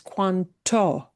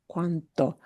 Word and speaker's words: cuánto: English ear to hear, because it will not be pronounced as cuanto. Cuanto. It'll be cuanto. cuánto. That T is less explosive versus, and you will not hear it as cuando.